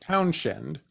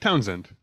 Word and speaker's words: Townshend: Townshend. Townshend. Like Pete Townshend.